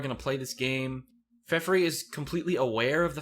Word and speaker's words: Feferi: I used to pronounce her name Feferi, but I think it's just Feferi.